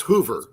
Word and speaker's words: Hoover: two o's v-e-r that's hoover like herbert hoover there's a street in